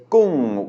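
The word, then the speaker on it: กุ้ง: seen before, this is gung, which means shrimp, as in tom yam gung, and it's a mid-class consonant with maito, which means it is automatically a falling tone, gung.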